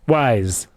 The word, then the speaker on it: Wyze: Wyze. Are you sure it's Wyze? I am Wyze that it's Wyze. Okay. That's how wise I am.